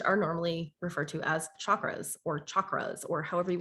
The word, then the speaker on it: chakra: energy centers which are normally referred to as chakras or chakras or however you want to say